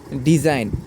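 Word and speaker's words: design: আর ই আই জি এন এখানে rain এরপরে ডিজাইন ডি ই এস আই জি এন ডিজাইন এরপরে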